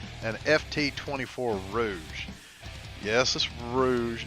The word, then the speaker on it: Rouge: from the x-men but Rouge is sort of like you know a French word for I guess makeup or some battle night